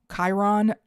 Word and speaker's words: Chiron: I've also heard it said as Chiron and Chiron. Chiron is just how I pronounce it. So you are welcome to pronounce it however you want.